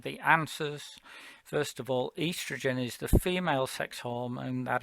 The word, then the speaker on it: estrogen: of the spelling uh estrogen is uh probably better in your mind pronounced earth's region because that's literally what it says and maybe that will help you say bit of a scottish accent sometimes helps with that as well um okay